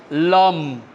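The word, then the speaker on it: लं: आपको पता चल गया ल और उसके अनुस्वार है उसका प्रोनाउंस होता है लम लम ठीक है उसके तीन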